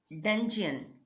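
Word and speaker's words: dungeon: एंड डंजन, डंजन means इसका pronunciation हो जाएगा डंजियन।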